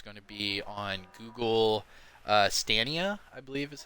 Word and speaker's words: Stadia: Division 2 is going to be on Google Stadia, I believe is how you pronounce it.